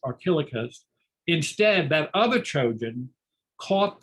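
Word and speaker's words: Archelochus: And instead, the Trojan Archelaus, Archelouchus, if you have a visual memory, looks like Archelouchus, it's pronounced Archelaus.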